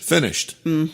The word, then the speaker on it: finished: Donc, on peut aussi avoir ceux qui finissent en ch, comme finir, Finir, to Finish. finished. en T.